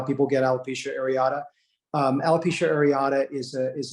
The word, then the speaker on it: alopecia areata: media and they're not saying it right it's alopecia areata most likely in alopecia areata areata is an